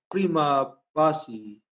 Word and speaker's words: prima facie: Pag C, nagiging CH. Kaya, pag prima facie, prima facie sa kanya. Kapag subpina duces tecum sa kanya, subpina duces tecum.